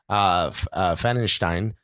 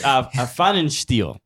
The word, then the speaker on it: Pfannenstiel: We talked to Lutz Pfannenstein. Is that close? He is so proud he knows how to pronounce that name. But it's wrong. It's wrong. It's Pfannenstiel. Pfannenstiel.